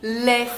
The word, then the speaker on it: les: différence c'est-à-dire que les on ne va pas prononcer le S final si le mot qui suit commence par une consonne les Philippines les problème